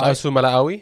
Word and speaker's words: Fa'asuamaleaui: Fa'asuamaleaui.